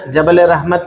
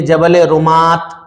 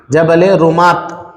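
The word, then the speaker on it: جبل الرماة: जबल रहमत नहीं, इसको लिखिए, काटिए और लिखिए जबल रुमात। जबल रुमात, ये देखिए स्पेलिंग, ROMAT, रुमात।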